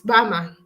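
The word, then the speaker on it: Bijlmer: Because that I'm just reading Bijma. It's Bama. I had someone pronounce it as Bama.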